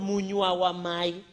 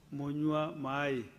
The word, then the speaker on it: munywa mai: It's called munywa wa mai. It means loosely translated water drinker. So this is a drinker. But Cherargei, let me give you the right pronunciation. Munywa mai. Munywa mai, not munywa mai.